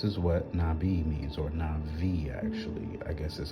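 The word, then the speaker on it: נביא: from the Hebrew word nabii this is what nabii means or Navi actually I guess is how it's pronounced the B makes a v sound like victory is mine um that type of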